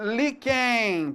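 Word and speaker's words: líquen: Ó, só a palavra liquen paroxítona terminado em N.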